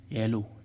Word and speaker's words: yellow: रहा है, साइलेंट ही है, इस ओ का उच्चारण ओ आ रहा है। ऐसे ही इसमें देखें अगला मीनिंग क्या है, YELLOW, येलो, येलो मीन्स क्या होता है, पीला, लास्ट में